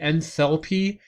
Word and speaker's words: enthalpy: which delta h is the enthalpy has a th in it so it requires that h to have the th sound in it and this last one